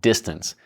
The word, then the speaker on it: D12tance: We're looking at what's called Distance. And it's spelled D12tance.